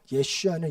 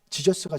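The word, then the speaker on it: ישוע: 예슈아 어 예 예슈아 예슈아 예수님의 히브리식 그러니까 그 당시 아람어 발음입니다 우리는 예수 하고 영어로는 지저인 지저스가 제일 엉망이에요 저 어떻게 보면 원래 원어 발음은 예슈아 우리 한국말 예수가 훨씬 더 원어에 가까워요 어쨌든 그 히브리식 발음을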